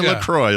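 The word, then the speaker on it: LaCroix: Just give me a lacroy like a normal person.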